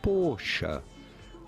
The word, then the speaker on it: Porsche: But how is it said in German? Simply Porsche. Porsche.